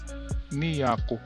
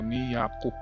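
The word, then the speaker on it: 二百: So Yako So ang pag ano niyan is niako ang pag pronounce dahil ang two ay ni So ni Yaku 200.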